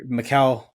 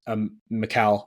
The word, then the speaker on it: Mikal: I think it's Mikal or Mikal, one of those two. Very similar, but it's like Cal, like Superman's name. Superman's first name.